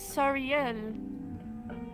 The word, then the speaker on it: Siel: Every time I say my name, everyone says thinks I'm apologizing. It's Siel.